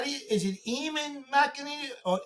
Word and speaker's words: Eamon: Hey, Aean, is it how do you Is it Aman Mc or Amen? How do you pronounce it? Uh, it's somewhere in between. It's Aean. So, you don't have to say hello to me, but it's Aean.